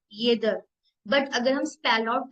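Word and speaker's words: jeder: या या य ट अगर इसको वर्ड को प्रोनाउंस करू तो येदर येदर येदर मींस एवरीवन अब अगर देखो नॉर्मली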